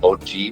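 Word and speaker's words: Ausie: Aussie is actually pronounced Oji, which means old uncle.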